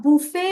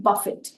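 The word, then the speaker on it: buffet: में यूज करते वक्त हम कहेंगे बफेट तो इसमें हम टी प्रोनाउंस करेंगे और आप देखेंगे कि प्रोनंसिएशन काफी अलग है बुफे और बफेट ये दो बहुत ही अलग साउंड के वर्ड्स है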